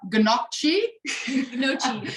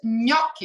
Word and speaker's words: gnocchi: you said it nicely it's not ganachi agonochi he's gnocchi a lot of people